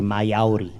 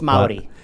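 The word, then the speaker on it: Māori: You didn't say Mayauri, No. like some people. I think it's the Spanish that helps. Maori. Yeah, no, it's Maori. That's how it's written, though, huh? Maori. So you Maori.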